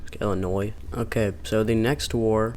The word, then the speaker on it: Illinois: between Tennessee and Illinois I don't know why I pronounced that with an S Illinois okay so the next